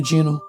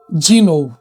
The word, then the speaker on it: Dino: Ele apenas pegou e falou: "Você está contratado, Dino?" e pronunciou como dinol. E na verdade é dino, eu disse como dinossauro. É o nome da pessoa aqui é dino de dinossauro.